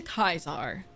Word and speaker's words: Caesar: Okay, if you want to do the original Latin pronunciation, don't sound like a sim who's just like with an American accent. Our way, true to Kaiser.